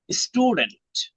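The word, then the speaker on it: student: Doctor না doctor doctor স্টুডেন্ট এটা দেখে মনে হু হওয়ার কথা কিন্তু একটা নিয়ম মনে রাখবেন এর পিছনে যদি এস থাকে তখন এই টি এর উচ্চারণটা টিই হবে।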